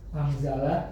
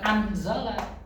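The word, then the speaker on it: أَنزَلَ: Oke, angzala ikhfa. Cara bacanya bukan anzala, tapi angza. Angzala karena nun sukun ketemu zai.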